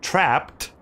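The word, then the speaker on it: Trapt: spin off ish title on playstation 2 called trapped that's spelled t-r-a-p-t not p-p-b-e-d no p-t trapped weird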